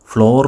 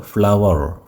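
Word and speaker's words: flour: അരിപ്പൊടിക്ക് ഞാൻ മുൻപ് പറഞ്ഞിട്ടുണ്ടായിരുന്നു ഫ്ലോർ മിൽ എന്ന് പറയാൻ പാടില്ല ഫ്ലോർ മിൽ എന്നുള്ളത് തെറ്റാണ് ഫ്ലോർ എന്നല്ല അത് ഉച്ചരിക്കേണ്ടത് ഫ്ലവർ ഫ്ലവർ മിൽ അപ്പൊ നിങ്ങള് പുഷ്പം അതിനെ ആണല്ലോ ഫ്ലവർ എന്ന് പറയുക അതേ ഉച്ചാരണം തന്നെയാണ് സ്പെല്ലിംഗ് വ്യത്യാസമുണ്ട് എഫ് എൽ ഓ യു ആർ ആണ് പക്ഷേ ഫ്ലവർ മിൽ എന്നാണ് ഉച്ചരിക്കുക അപ്പൊ ഇവിടെ ഫ്ലവർ റൈസ്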